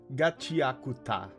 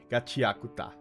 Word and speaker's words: Gachiakuta: I was not expecting to enjoy it that much and not only Gachiaka. Okay. Okay. Thank you. Thank you. Thank you. Gachiakuta.